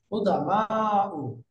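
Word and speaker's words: قدماء: কি কুদামা, এটার বানানটা এখানে যেভাবে আছে অভিধানে কিন্তু এই বানানটা না, কুদামা। এটা বহুবচনটা হয় ফুআলা ও এই স্ট্রাকচারে। তাহলে আসলে কি হওয়ার দরকার? কুদামাউ, এরকম হবে।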